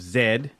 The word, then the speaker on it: Z: seeing him also in Lost City of Zed right I said that right I said it right this sign z um it's spelled with the letter Z it means Zed yes English I saw him